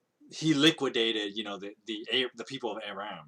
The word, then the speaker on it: Aram: of Aram, right, or Aram. I know I pronounce it Aram because I guess I'm just too used to saying it that way because that's how everybody says it in League of Legends. But the king, Aram had